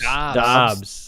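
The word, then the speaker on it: Doubs: Is that how you pronounce it? Romeo Dobbs. Dobbs. Thank you. Appreciate that. Some people he sounds want like it he's to had be a lot Doobs.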